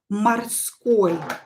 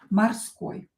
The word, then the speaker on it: морской: So, let's begin with, for example, морской. Номер один, первый пример. Номер один is морской. Морской is sea, but an adjective. Морской. Морской. Морской. Here I pronounce O as A, морской, but I write O.